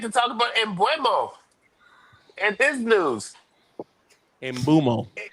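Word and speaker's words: Mbeumo: Mbuemo.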